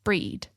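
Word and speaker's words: Brigid: of Celtic pagan goddess breed pronounced like breed in old Irish and it's very topical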